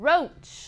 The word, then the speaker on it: roach: But no, in English, usually OA is pronounced O. Just O, not OA, O.